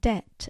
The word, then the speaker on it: debt: spelling should reflect Latin, so they added the silent B in debt and doubt, and a silent P in receipt, and a silent L in salmon to reflect their Latin roots.